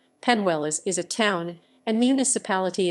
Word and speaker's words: Peñuelas: penniless puerto rico penniless spanish pronunciation panwellis is a town and